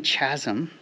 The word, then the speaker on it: Chasm: Chasm with a silent H. Let's try that again. Stanley Chasm.